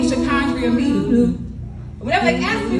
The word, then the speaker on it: Sha'Condria: My name is pronounced Sha'Condria. No silent letters, no accents.